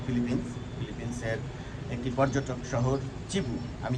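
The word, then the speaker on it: Cebu: যে জায়গা থেকে যাই চিবু বলছি এই কারণে সিই বিবি ইউ ইংরেজিতে লেখা হয় চিবু city C ই বি ইউ কেউ কেউ বলেন সেবু সিটি কেউ কেউ বলেন নানা রাম উচ্চারণ করেন আমি ঠিক জীব বলছি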